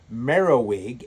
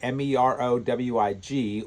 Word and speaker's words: Merovech: Anyway, the Merovingian dynasty got its name from Merowig, Merowig, or it's spelled Merovech, who is a Frankish leader from 447 AD to 457 AD.